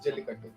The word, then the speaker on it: Jallikattu: That is how it's pronounced? Yes, Jallikattu.